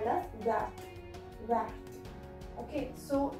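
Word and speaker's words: verte: Vert. Okay, so there is an additional E, that's why the sound comes of vert. The T pronounces here, but not in this case.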